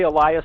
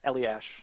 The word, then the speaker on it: Elias: I say Elias. The hockey player says Eliash.